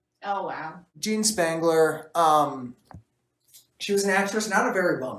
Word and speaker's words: Spangler: is funny is that her last name rhymes with wrangler oh wow jean spangler um she was an